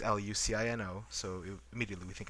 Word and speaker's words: Lucino: But mostly in um in Spain itself the C is pronounced not in the traditional sense that we think C sounds like. Uh for example, my last name is uh is Lucino.